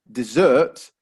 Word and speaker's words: dessert: sand uh desert however if we stress the second syllable dessert then suddenly we have